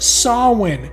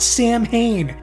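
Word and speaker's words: Samhain: hate to be this guy but actually it's pronounced sawin not Sam Hayne get it together Moulder and in an interesting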